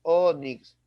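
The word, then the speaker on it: ónix: Recuérdate que tiene dos sílabas, onix, como los fénix, pero fax solamente tiene una sílaba y de faxes, faxes.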